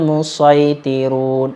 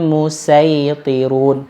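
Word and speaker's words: المصيطرون: Tapi kalau huruf sinnya di bawah, humul, lebih baik dibaca shad. Humul musaitirun. Walaupun boleh juga dibaca humul musaitirun, boleh juga. Jadi tanda sin kecil itu menunjukkan huruf tersebut bisa dibaca dua macam.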